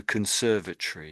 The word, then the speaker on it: conservatory: So pretty much everywhere you see Tory at the end of an English word, the Brits say it as Tory, but the American no, I got it wrong round.